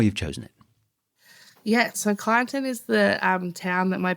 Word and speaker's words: Kyneton: Excuse me if I pronounce that wrong. No, is it that's right. Kyneton.